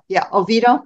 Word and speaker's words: Oviedo: So I'm doing three big section hikes, and I finished in the area of, do you pronounce it Oviedo? Oviedo. Okay.